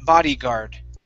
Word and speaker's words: bodyguard: Bodyguard. All right. Now, with this D here, okay, we want to pronounce that like an R. Body. Body. Bodyguard.